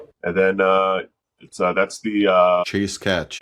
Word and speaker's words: cachet: And then that's the Chase Catch. Isn't it Cachet? Isn't it French?